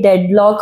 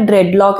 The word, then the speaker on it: dreadlock: जैसे आपने पूछा था सबसे पहले डेडलॉक और ड्रेडलॉक, तो मैंने बोला था ड्रेडलॉक इज the right pronunciation because ड्रेडलॉक इज the right thing.